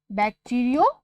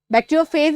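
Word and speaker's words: bacteriophage: हम उन्हें कहते हैं बैक्टीरियोफाज। एक्चुअली बैक्टीरियोफेज भी कहा जाता है, पर बैक्टीरियोफाज इज A correct pronunciation.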